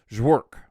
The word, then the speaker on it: Jork: Anyhow, it's pronounced like work, but with a J instead of a W. So I'm going with Jork.